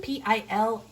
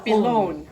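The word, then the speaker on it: pilón: Pilon, accent on the the O, O. on the Pilon.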